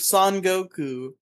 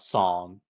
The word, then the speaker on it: Son Goku: The flanderization of Son Goku. Son Goku, not Song. Don't say it weird.